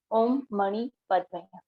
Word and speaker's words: Om Mani Padme Hum: Pronunciation is Om Mani, Mani, Padme, Padme, Hum. Om Mani Padme Hum.